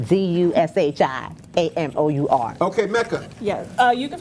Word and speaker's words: Dushi: At Dushi Amour, that's Amour. And Dushi is like sushi, but DUSHI Okay, Mecca Yes.